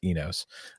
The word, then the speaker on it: Inos: And next week we talk to Mercedes about Easter Jeep Safari and Inos. Actually, it's pronounced Enos.